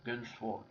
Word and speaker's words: Gun X Sword: 2005 donc on prononce on doit pas prononcer le X donc voilà quand on parle de la série il faut seulement dire gun bon demandez pas pourquoi